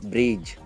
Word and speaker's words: bridge: BRIDGE, ई last में आया, pronounce करना है नहीं, क्या बोलोगे, सीधा ब्रिज, ओके।